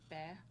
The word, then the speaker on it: Baer: Baer? Yeah, Baer Winery. Okay. It's spelled B-A-E-R.